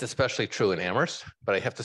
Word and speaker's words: Amherst: it's especially true in Amherst but I have to say the town where only the H is silent takes debate to a